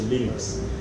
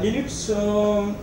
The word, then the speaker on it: Linux: For the sake of pronunciation, we don't say Linux, we say Linux. Parce que la personne qui crée sa software là, il appelle Linux Torvalds. Donc, c'est un dérivé de ce nom.